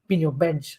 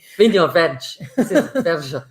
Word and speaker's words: Vinho Verde: And that's moving on to the area of Vinho Verde, which we'll talk about, or Vinho Veg. I can't remember exactly how the guys pronounce it. It's really funny. Vinho Veg. There's a lot more jizz than you think there should be.